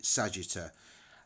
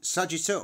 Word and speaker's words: Sagitta: is going to be Sagittar. Now, Sagittar, or Sagitta, however you want to pronounce it, does actually resemble something of what it's supposed to look like, which is an arrow.